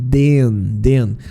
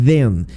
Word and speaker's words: then: Normalmente os meus alunos falam then. Não, na verdade é then. Você tem que colocar a língua entre os dentes e fazer um sonzinho de abelha, ó.